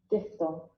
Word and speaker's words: diphthong: इसका इसका correct pronunciation क्या होगा ब्रिटिश इंग्लिश के मुताबिक, ये सुन लिया जाए। डिप्थंग।